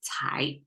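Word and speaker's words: 才: is Chinese way to say Talent or potential pronounced as Thai so together combined the left side symbolize the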